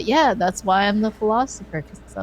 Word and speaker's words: Pholosopher: So the philosopher. So it's kind of funny. It sounds just like with an I.